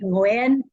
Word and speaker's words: Nguyen: Vietnamese last name, and I think it's pronounced Nguyen or something like that. But, how are you doing today? Good, good. Thank you so much, Dan. We say it Nguyen, but Nguyen, I'm Nguyen.